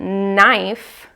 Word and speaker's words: knife: So we pronounce it knife, but we have that silent K in the beginning, and that's a good